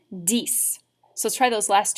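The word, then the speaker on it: dix: because if you notice the number 10 and the number six are spelled almost exactly alike which means they're going to rhyme so if this is cease how are we going to pronounce number 10 you got it dies so let's try those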